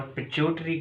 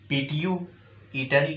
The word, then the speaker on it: pituitary: Next topic is pituitary gland or pituitary gland. There are two pronunciations: pituitary gland or pituitary gland.